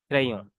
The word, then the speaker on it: crayon: What we say this word, this is the ending letter consonant. We don't know, we don't pronounce this letter. I already told you yesterday. So we will say this crayon.